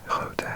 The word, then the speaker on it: grote: Pronunciation note: the final E is pronounced like the in father.